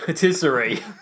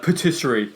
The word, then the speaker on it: patisserie: And patisserie, like Patisserie Valerie.